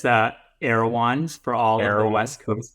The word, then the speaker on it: Erewhon: say that spend the next one it's the aans for all the West Coast people who know